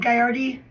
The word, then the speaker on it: Gagliardi: I go by Gagliardi. Thank you. But the G is silent, so it would be like Gaiardi.